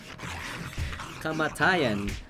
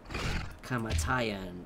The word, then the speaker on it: kamatayan: Kamatayan. By the way, people, the word for death in Tagalog is actually long. It's like four syllables. Kamatayan equals death.